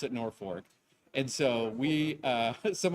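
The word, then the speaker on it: Norfolk: which is spelled like Norfork Virginia but we pronounce it Norfork and so we uh some of our local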